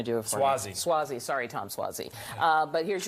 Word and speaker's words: Suozzi: Tom, I can never pronounce his last name. You're going to do it for me. Suozzi.